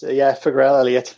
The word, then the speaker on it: Farrell-Elliott: It's Farrell-Elliott. It's the we combined the surnames when we got married, so we just double barreled it together. We toyed with the idea of Farrell-Elliott as well, but that didn't go over well.